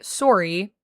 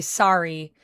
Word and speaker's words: sorry: The difference between Canadian and American pronunciation of the word sorry is in Canada we say sorry like sore ow you know sore e and in America most people say sorry which in Canada we